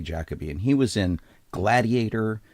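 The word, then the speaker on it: Derek Jacobi: and and As Americans we frequently mispronounce his name as Derek jacobe cuz that's what it looks like it's it's actually jackob and he was in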